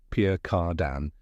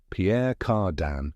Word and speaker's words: Pierre Cardin: r d i n just remember Pierre is a classic French first name and cardan has that silent n at the end now that you've got it you can say Pierre cardan like a true fashion